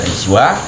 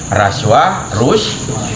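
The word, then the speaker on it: رشوة: Bisa baca riswah, raswah, ruswah.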